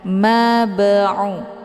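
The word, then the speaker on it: بِمَبْعُوثِينَ: dunya wa ma nahnu bimab'utsin. Mab'u ada ba sukun yang terdapat di pertengahan kalimat. Ini dinamakan dengan qalqalah sughra. Cara bacanya, huruf ba-nya dipantulkan dengan pantulan ringan. Mab'u, keluar bunyi b.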